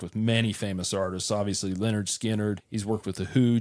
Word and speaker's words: Lynyrd Skynyrd: and they narrowed it down to nine for pronounced Leonard skinnard in this song Pretty Simple the lyrics are